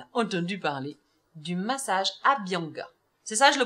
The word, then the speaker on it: Abhyanga: Et en fait, elle a entendu parler du massage Abhyanga. C'est ça, je le prononce bien?